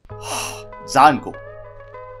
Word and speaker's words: Django: The D is silent. I know. Django.